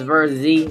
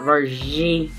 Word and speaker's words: Vurzhy: I said that wrong. It's Verzy, not Vergy. Well, it's spelled Vergy, but we call him Verzy.